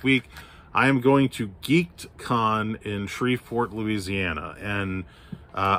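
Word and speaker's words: Geek'dCon: i am going to geekedcon in shreveport louisiana and uh i am saying it correctly it is geek apostrophe d khan in shreveport if you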